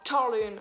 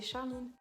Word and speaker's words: Charline: Il y en a qui prononcent mon prénom Charline, genre Charline. Non, il n'y a pas de T devant, c'est Charline.